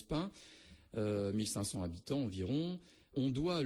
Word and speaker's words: Payns: Alors Pin en effet 12 km de Troyes, P-A-Y-N-S comme je l'ai dit, ce qui se prononce Pin, 1500 habitants environ.